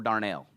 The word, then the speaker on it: darnel: say it's it's either darnel or darnell right right but i'm going to say darnold it's darnel and it's important to